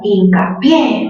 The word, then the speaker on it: hincapié: A ver, siguiente palabra, hincapié. ¿Mayor fuerza dónde? En la sílaba pie.